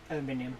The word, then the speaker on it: aluminium: Aluminium, yeah. Ironically, it's easier to say in the British pronunciation.